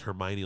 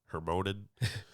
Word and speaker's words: Hermione: I think I pronounced Hermione like Hermonen.